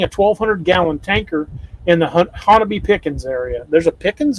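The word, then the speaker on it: Honobia: This is a nighttime sighting by a trucker near Hanobia. Or actually, they pronounce it Hanabi. That's right. Yeah. Only in Oklahoma can Miami be Miami and Hanobia be Hanabi.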